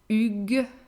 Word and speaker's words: Hugues: A mixed name starting with H is actually here has two different pronunciations. So Hugues, Hugues, that's the masculine, and Huguette, Huguette, that's the feminine.